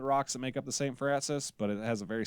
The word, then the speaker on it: Saint Francois: Francis Mountains is spelled Saint Francois, but we say it St. Francis, just like we call